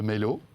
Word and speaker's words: Mailo: Alors, vous êtes le fondateur de Mailo, ou Mailo.